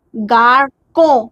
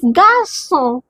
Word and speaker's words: garçon: If this accent is not here, so what how we can pronounce this? garco c o co gaco No. Now accent is placed, the sound is s, not c.